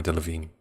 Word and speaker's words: Delevingne: Is that how you pronounce her name? Cara Delevingne. I was told this by Ricky. That's how you have to pronounce it.